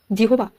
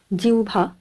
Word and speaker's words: জিহ্বা: বয় র গহবর তাইতো কিন্তু না এগুলির উচ্চারণ একটু অন্যরকম হবে এখানে সঠিক উচ্চারণটি হয়ে যাবে জিউভা আওভান এবং গ ভর কোন পদ্ধতিতে এই শব্দগুলির